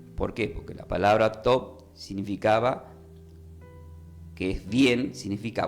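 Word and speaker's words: טוב: Entonces, ¿qué significa la palabra bien desde la palabra bien significa desde el hebreo, se pronuncia conmigo top.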